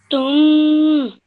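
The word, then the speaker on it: شِئْتُمْ: Shittum. Okay, well done. No need to elongate the meme sound at the end too much. Just shittum. Shittum.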